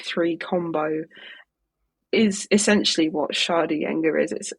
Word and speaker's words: Sceadugenga: Yeah, Sceadugenga.